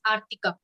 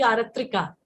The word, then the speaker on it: Artika: And there is one small request that my spellings name, my pronunciation of my name is Artika. Acha. You know why I used to say Aratrika? Because Aratrika is an pose in Odissi dance, which means Aarti Utarna.